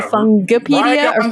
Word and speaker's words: Fungipedia: this word really differently um I'm gonna say fungipedia a brief compendium of mushroom lore do you say fungipedia hit the na you hit the nail on